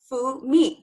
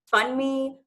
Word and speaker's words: Funmi: I say Funmi, 2 syllables. Like, it's not that hard. But somehow people find ways to fun me, funny, fungi, and I'm listening and